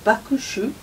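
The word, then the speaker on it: 麦酒: Ça se prononce comme bakushu. La réponse est suivante.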